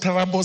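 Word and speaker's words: Turbo: Trubo sub-county, it's pronounced Tarabo sub-county, Paul Boyd Boys High School at 8 a.m.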